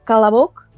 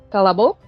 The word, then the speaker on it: Kolobok: mi acento ruso, digamos, es Kalabok. Ahí es una A, ¿verdad? Kalabok. Sí. Pero escribirse realmente se escribe todo con O, Kolobok. Vale. Y probablemente haya zonas en las que se pronuncie más claramente la O.